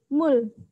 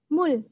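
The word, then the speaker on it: 물: kata atau sebagai bachim maka konsonan Riau ini Hai berbunyi l Seperti apa kita lihat contohnya contoh yang pertama aku punya kata Mul tulisan ini dibaca Mul Mul kitab ingat ya huruf-hurufnya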